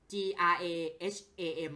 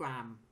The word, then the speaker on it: Graham: นี้ แหละ เพราะ ว่า มัน เหมือน กับ กราม อ่ะ g r a h a m อ่ะ บาง คน อ่าน ว่า graham แต่ ว่า อ่าน จริง ๆ มัน อ่าน ว่า กราม ผม ว่า มัน น่า